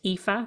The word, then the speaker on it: Aoife: to spell my name it's spelled AO i f e and it's pronounced epha and my surname is